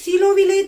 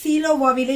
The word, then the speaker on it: சீலோ: நான் போன வீடியோல வந்து சீலோவாவிலே என்று சொல்லிிருப்பேன். அது வந்து அது வந்து சீலோவாவில் என்று நம்ம உச்சரிக்க கூடாது. சீலோவினை. சீலோ.